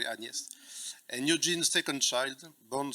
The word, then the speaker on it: Agnes: Una was Anes Agnes, sorry I pronounce that the French way, Anest and Eugene's second child, born six years after her brother Shane.